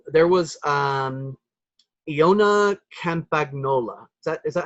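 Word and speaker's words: Campagnolo: There was Iona Campagnola. Is that how I pronounce it? Iona Campanolo.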